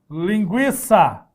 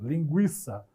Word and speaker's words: linguiça: continua melhor pronúncia a outro exemplo linguiça certo tinha treino Aqui também tá só mais uma carinha é para tomar carinha isso mesmo linguiça se dá o trema não precisa mais grafar o tema mas a pronúncia é a mesma linguiça certo aí não vai falar